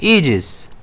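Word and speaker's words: aegis: इसे हम प्रोनाउंस कैसे करते हैं? एजेस बड़ा ई है यहां पर और स्ट्रेस जो है इसी ई पर रहने वाला है।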